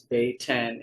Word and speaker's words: Beten: the Beten-Jahlah, her name, how to pronounce it, says here is Beh-ten, is a female noun